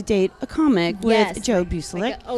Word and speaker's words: Bueselinck: That's right. Bueselinck. Like link.